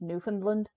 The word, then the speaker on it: Newfoundland: Yeah, well, Newfoundland is pronounced Newfoundland.